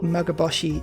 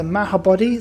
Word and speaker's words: Mahabodhi: is a beautiful beautiful mughaboshi temple which is definitely not how you pronounce it the mahabodhi sorry magaboshi there there daredevil right